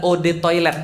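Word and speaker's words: eau de toilette: Eu de toilete artinya adalah od toilet bacanya.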